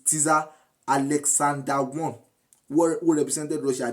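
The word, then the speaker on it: tsar: some people call it Tesa that is TZ a r but some people call it Caesar but it is Cesar Alexander one who represented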